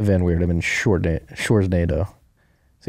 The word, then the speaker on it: Sjors: had to remind him point that out that shorts is pronounced exactly as in the femreedom Schwarz NATO